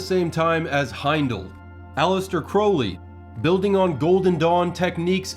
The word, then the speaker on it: Crowley: of the Illuminati that it is pronounced Crowley to remind you that I'm holy, but my enemies say Crowley and wish to treat me foully.